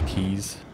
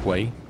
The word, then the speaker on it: quay: And I really like the keys. I just think they look real nice. Also, I thought they were pronounced Quay for a very, very long time.